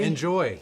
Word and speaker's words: Njoie: So the brand is Njoie. Enjoy.